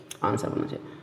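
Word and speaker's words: answer: पीछे पड़ चुके आंसर, आंसर में भी जो है डब्ल्यू साइलेंट होता है। देखिए दोस्तों एक शब्द अलग है तो इसको अभी आप याद कर लीजिए कि आंसर, इसमें भी डब्ल्यू साइलेंट होता है। आंसर कुछ लोग बोलते हैं गलत है, आंसर बोलना चाहिए।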